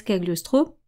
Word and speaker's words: Cagliostro: Donc je le prononce à la française Kagliostro.